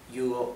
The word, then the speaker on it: yo: most similar to the right thing okay once you you manage to pronounce you can try to pronounce okay good